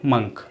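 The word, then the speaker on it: monk: उसके बाद आते हैं हमारे साधु संत, जो संतरी कलर के कपड़े पहन के घूमते हैं, उनको बोलते हैं मोंक, लेकिन सही उच्चारण है मंक, ओके, मंक, मंक।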